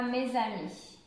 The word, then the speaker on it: mes amis: Je plais à mes amis. Et aussi, attention à la liaison. Ici, on fait la liaison.